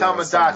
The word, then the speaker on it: Tomodachi: Yeah, Tomodachi.